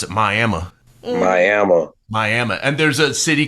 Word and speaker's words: Miami: have a city it's it's spelled like Miami like Miami Florida right yeah they pronounce it miam Miama miam and there's city